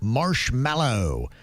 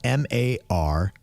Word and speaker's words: marshmallow: You spell it MARSHMALLOW. I think it's kind of tricky in a sense because you almost say it like marshmallow, not mallow, but it should be mallow with the A.